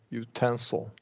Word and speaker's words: utensil: it now here here you say the utensil uh we're going to that this that this one gets secondary stress this is the primary stress utensil utensil okay utensil yeah very good everything